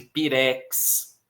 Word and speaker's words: pirex: Não é o caso de pirex, ok? Também é oxítona.